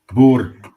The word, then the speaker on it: Boer: Bo thank you Bo Bo uh yeah I think phonetically you might in America you might say b o o r like Bo yeah Bo there it